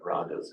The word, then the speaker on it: raga: that they call the ragas. In modern Hindi they call it rag, but that's simply because of the phonetics of modern Hindi. The other Northern Indian languages are not pronouncing the final a.